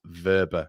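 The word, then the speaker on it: Wöber: It's pronounced Verber, Connor.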